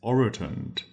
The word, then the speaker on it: orotund: time and our final word is oroton oroton that's spelled o r o Oro t u n d t oron and usually it's referring